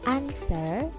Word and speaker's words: answer: Dan juga huruf W ini tidak dibaca ketika didahului huruf S dan juga T. Misalkan answer to.